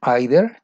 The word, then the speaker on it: either: Y después, 11, debiste haber puesto either or either. La pronunciación, no te preocupes, es either or either.